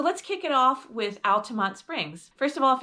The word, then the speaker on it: Altamonte: So, let's kick it off with Altamonte Springs. First of all, if you want to sound like a local, it's Altamonte and not Altamonte. I don't know why, but that's just the way it's pronounced.